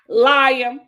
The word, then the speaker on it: Liam: I'm not even mad at you mispronouncing that. What is it? Liam. It's Liam.